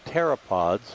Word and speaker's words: pteropods: of what are called pteropods with a p-t-e-r-o the p is silent they are the shells